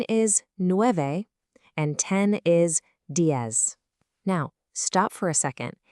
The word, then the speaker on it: diez: In a lot of Spanish-speaking regions, that Z is pronounced with a soft S sound, while in parts of Spain, it might sound a bit more like a th.